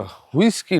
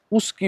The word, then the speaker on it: উস্কি: আচ্ছা, হুইস্কি নয়, উস্কি ওয়াটারফল। উচ্চারণটা অন্য করছিল আমাদের ড্রাইভার দাদা। এই হচ্ছে উস্কি ওয়াটারফল, এটা উস্কি ওয়াটারফল, নট হুইস্কি।